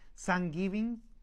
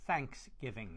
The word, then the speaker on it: Thanksgiving: pueda corregir Okay hay algunos hispanohablantes que decimos thankgiving otros Thanksgiving Así que vamos a preguntar al profesor Tom Cuál es la pronunciación correcta Thanksgiving o Thanksgiving Thanksgiving Thanksgiving okay Y la otra palabra es Turkey